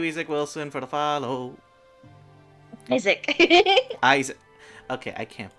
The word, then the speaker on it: Isaac: When I first knew him for about half a year, he let me pronounce his name as Isekai. Isekai. The little shithead. It's like putting emphasis on the E in isekai.